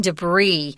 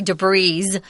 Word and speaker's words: debris: protect Philillip from flying debris. This is a weird word again guys because it's French and those French love to not pronounce that last consonant. So don't say debris.